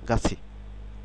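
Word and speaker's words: 같이: হবে সি গা সি গাছি গাছি খেয়াল করুন গা নট গাথি উচ্চারণ উচ্চারণ হবে গাছি গাছি অর্থাৎ থ যখন ইভেলের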